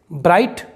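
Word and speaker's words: bright: Silent है और यहाँ पर दोस्तों K भी साइलेंट है, जो हम पहले पढ़ चुके हैं। ब्राइट, इसका मतलब होता है चमकीला।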